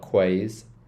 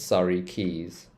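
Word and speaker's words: Surrey Quays: Rive buray bery now whenever you have this it's called a key so keys so sorry keys this is not quaz it's Sor Keys Sor Keys let's move down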